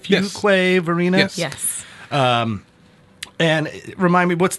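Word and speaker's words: Fuquay-Varina: Fuquay, Verena?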